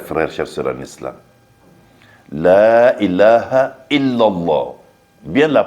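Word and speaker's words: لا إله إلا الله: Vous voyez, non, la dernière partie là, il y a le shidda sur le là. La ilaha illallah.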